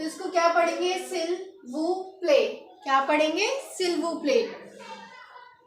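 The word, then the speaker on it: s'il vous plaît: पी एल ए वाई तो इसको क्या पढ़ेंगे सिल वू प्ले क्या पढ़ेंगे सिल्व प्ले तो हमें फ्रेंच में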